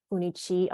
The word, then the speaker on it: Funie Chi: Funie Hsu /Chi, and I go by Funie Chi also. That's just the Hokkien pronunciation of my name.